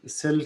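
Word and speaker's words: psi: इसे हम प्रोनाउंस करते हैं स राइट पी साइलेंट है।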